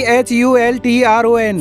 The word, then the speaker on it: Hultron: अल्ट्रॉन बताता है कि HULTRON। फिर कैप्टन कह रहा होता है कि क्या इसे अल्ट्रॉन की बजाय अल्ट्रॉन के रूप में नहीं पढ़ा जाता? अल्ट्रॉन गुस्से से कहता है कि H साइलेंट है, यह H ऑफ अल्ट्रॉन है।